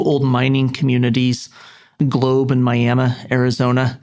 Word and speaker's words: Miami: missionary was two old mining communities globe and Miami Arizona not spelled like Miami but pronounced miam and they will